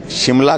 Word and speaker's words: शिमला: और उस दृष्टि से क्योंकि अंग्रेजों को श्यामला बोलने, माँ श्यामला बोलने में कठिनाई आती थी, ये प्रोनाउंसिएशन में बिगड़ते बिगड़ते श्यामला से शिमला हो गया।